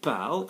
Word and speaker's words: parlent: They speak, ils parlent. Yes, we think core, but PARLENT. It's silent, SILENT.